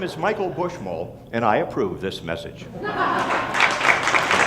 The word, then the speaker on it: Buschmole: to say your name my name is Michael bushmull and my final message to you is this this comes down to the last syllable to make a lot of money if